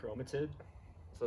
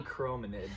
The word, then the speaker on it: chironomid: chromatid. So it's called a chironomid, but Joe referred to it as chromatids multiple times.